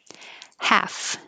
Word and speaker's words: half: little delay context text half no l forget about it half and 46 have the